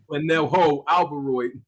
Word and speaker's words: Canelo Alvarez: I want to make sure I pronounce this correctly, Kamal. Can you help me with this? Oh. Yeah, it's Canelo Alvarez.